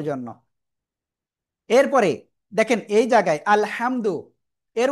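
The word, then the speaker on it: الحمد: দেখেন আলহামদু এই জায়গায় মূলত যে হাটা রয়েছে সেটা হলো এই হা। এখন এই হাটার পরিবর্তে যদি আমাদের আল হাটা গলাটা চেপে পড়তে হয় সেটা যদি আমাদের উচ্চারণটা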